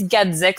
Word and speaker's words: Gedzyk: But if you want to know how to pronounce it, so it's Gedzyk. So I think like get sick.